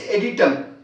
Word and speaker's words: adytum: And this one is editum, ADYTUM, editum.